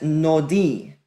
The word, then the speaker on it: nodi: That first word marked in blue is pronounced as nodi. Nodi means my wandering or my wanderings.